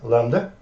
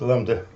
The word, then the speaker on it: lambda: This is Greek letter, lambda. So do I. And b is not pronounced, lambda.